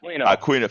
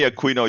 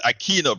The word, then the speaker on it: Aquino: my brother Neil Aquino I usually get it wrong I get it wrong so aquina forgive me Aquino you know I I have soy Latinos so in Spanish it's Aquino brother but you know